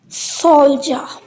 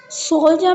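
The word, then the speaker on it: soldier: Three letters से only one sound ज sound pronounced की गई। This is a English speaking rule. Next हमारे पास जो वर्ड है सोलजा। सोलजा में क्या है?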